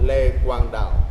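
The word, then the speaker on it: Lê Quang Đạo: I used to say Le Quang Dao because it's LEQUANGDAO.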